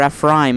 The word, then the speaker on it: Ephraim: Ephraim, or Ephraim as it's pronounced in Hebrew, and Erika are prince